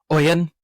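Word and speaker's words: Ioan: Ian Garfield. Is it just Ian? I think so. It's like Irish. So it's like Oan.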